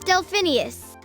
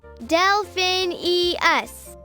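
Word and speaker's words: Delphineus: as I was trying to say my name's delphinius Del or what delin US got it delphinius got it complicated name cus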